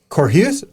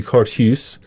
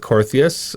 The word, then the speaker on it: Korthuis: yeah totally yeah um in in holland it would be cortus okay that's the one i got yeah yeah and then uh my parents go with corthias a bunch of family